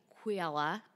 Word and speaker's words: Kujala: It's just like it sounds. K-U-J. Yeah, just like it sounds. A-L-A, yeah. Mm-hmm. Yeah. Kujala. Not Kujala.